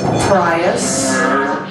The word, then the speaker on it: Prius: Prius you know that in the UK they call the Prius they pronounce it the prias that kind of makes